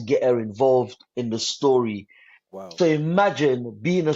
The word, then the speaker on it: Storie: And the company is actually, it's not story. I call it specifically, I call it story. So it's Story. STORIE, story.